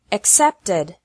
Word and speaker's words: accepted: The past of accept is accepted. Accept has two syllables, and accepted has three syllables.